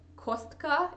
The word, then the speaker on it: Costco: I always laugh at Volvo because if you say Volvo in Russian, like words that end in O are pronounced A, like Kostka instead of Costco.